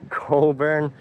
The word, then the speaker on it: Cockburn: Coburn, you know, don't pronounce it how it's written or it's really weird. That's not how it's pronounced anyway.